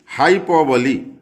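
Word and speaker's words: hyperbole: हाइपरबोली Hindi में अतिशयोक्ति, और उसका उनका प्रोनाउंसिएशन देख लिए, हाइपरबोली।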